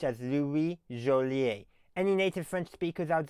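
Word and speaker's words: Louis Jolliet: And as I understand it, his name should be pronounced in French as Louie Jolier.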